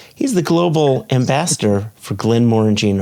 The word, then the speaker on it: Glenmorangie: Glenmorangie. Oh gosh. We are owned by the French, so it's Glenmorangie. Glenmorangie.